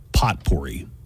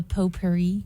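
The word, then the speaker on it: potpourri: saying wrong uh well she called it pot pory potp oh the PO Perri po Perri and did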